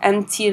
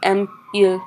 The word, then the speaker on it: aime-t-il: ends with a vowel, we add the T in between so that we have that liaison, so that the pronunciation is clear. Aime-t-il les films? And that sounds a lot better than aime-il les films.